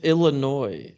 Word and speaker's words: Illinois: It's Illinois. The S is The silent. S is silent.